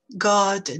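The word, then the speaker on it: guard: dans le jardin god voyez qu'on ne prononce pas le re god c'est juste une voyelle ou la lettre re si vous voulez et remplacé par la longueur de la voyelle god code quand la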